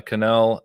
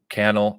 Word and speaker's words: Cannell: that from sean uh canal and cannell i always say it wrong rhymes with channel that's how that's how